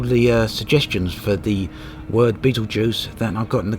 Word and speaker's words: Betelgeuse: Near the start of the video I actually mentioned I was near Betelgeuse, and I've had a number of comments actually correcting me on the pronunciation of that.